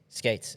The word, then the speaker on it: Scates: Skates? Skates. Yep. Okay. Like roller skates with a C instead of a K.